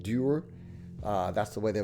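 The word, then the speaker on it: duir: Uh, they would also call it, it re uh rhymes with pure. It's d uh d u i r pronounced durer.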